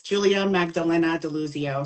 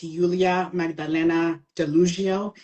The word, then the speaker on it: Julia Magdalena Deluzio: It's Julia Magdalena Deluzio. So there's so many ways to pronounce it. So like I'm from Poland, and so it's Julia Magdalena Deluzio.